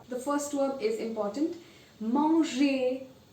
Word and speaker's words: manger: Manger. Manger. This means to eat. Danser means to dance. Now the pronunciation of OI.